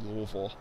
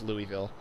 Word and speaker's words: Louisville: Two, if I made any factual inaccuracies during this video, besides pronunciation, I'm not interested in you explaining why it's actually Louisville, because we all know it's Louisville.